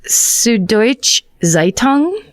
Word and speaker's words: Süddeutsche Zeitung: awarded by a German newspaper that I cannot pronounce I apologize it looks like süddeutsche Zeitung that's exactly right perhaps besting you she was